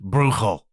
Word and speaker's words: Bruegel: heard that name pronounced brugle or bruegel apparently the proper this would be Dutch pronunciation is brugal not easy to say